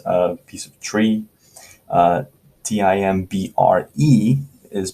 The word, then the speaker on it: timbre: like timber but it's t-i-m-b-r-e not t-i-m-b-e-r timber b-e-r is wood right it's a piece of tree t-i-m-b-r-e is pronounced timbre almost like t-a-m right timbre timbre is